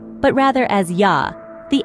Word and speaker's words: ja: For instance, the German J sounds like the English Y, as in yes. So, ja in German is not pronounced as ja, but rather as ja.